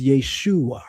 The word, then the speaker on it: Yeshua: Then there is a Aramaic rendition which is Yeshua, right?